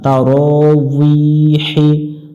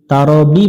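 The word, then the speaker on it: تراويح: তারানা, তারাউইহি, তারাবি পড়া যাবে না, তারাউইহি, যদিও এটা আমরা বাংলা দিয়ে তারাবি বলে থাকি, আরবিতে এটা উচ্চারণ হয় তারাউইহি, তারাউইহি।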